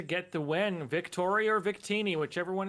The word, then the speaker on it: Victini: you gnav uh I've been told it is Victini is how you pronounce the name vitini okayy so good to